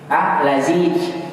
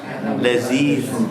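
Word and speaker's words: لذيذ: Lazij. Ya. Lazij. Pakai la zaid. Lazij. Laziz. Beda nanti, makanya Laziz, lezat. beda.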